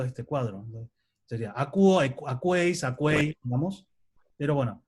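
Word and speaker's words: ἀκούω: Escuchar, que es acuo, perdón, porque OU se pronuncia como una U, y entonces es una O, entonces esto es acuo, lo escucho.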